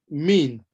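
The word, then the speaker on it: mesne: Laws edition, page 1186, mean, they've even provided the pronunciation there for us. The pronunciation is provided M-E-E-N, so that's how it's pronounced. So that's why I say like mean.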